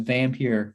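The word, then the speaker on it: Vampyr: don't know if i said the name but vampire from 1932 that's how you pronounce it it's only 73 minutes long uh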